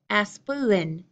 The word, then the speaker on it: aspirin: heal a lot of speakers of British English pronounce this as aspirin aspirin with three syllables a swollen but my